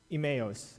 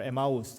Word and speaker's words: Emmaus: on a journey to Emmaus or emaus I'm going to say because that's how you say it in Spanish you understand which city